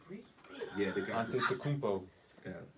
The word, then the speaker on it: Antetokounmpo: Antetokounmpo. Yeah. What's the pronounced name again? Giannis Antetokounmpo. Yeah. Giannis Giannis Antetokounmpo. Antetokounmpo. What the hell? It's like 7 syllables in that thing.